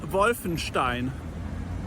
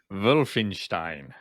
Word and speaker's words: Wolfenstein: district of berlin and so the castle castle wolfenstein or in real german schloss wolfenstein see you bye and there we are a definitive answer thank you very much wolfenstein now chris and neil say it properly wolfenstein bearstein off our first